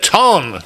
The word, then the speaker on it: Tonne: I love that you even pronounce it Tonne.